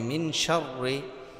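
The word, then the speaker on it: مِن شَرِّ: নুন সাকিন যেখানে হবে নুন সাকিনের পরে যদি শিন থাকে তাহলে গুন্না করে পড়তে হবে গুন্না করে পড়তে হবে তাহলে কিভাবে উচ্চারণ হবে মিম নুন জের মিন শিন র জবর শার জেরি মিন শাররি মিন এই গুন্নাটা এভাবে হবে মিন শাররি মিনারি মিম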